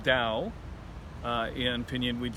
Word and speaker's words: Dao: Actually, according to Wade Giles, that is pronounced Dao.